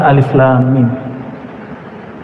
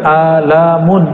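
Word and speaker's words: الم: ayat-ayat seperti ini dan dibacanya bukan alamun alamun artinya penyakit sakit di kolom Alif itu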